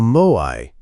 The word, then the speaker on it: moai: A moai, pronounced moai in Okinawa, is an informal group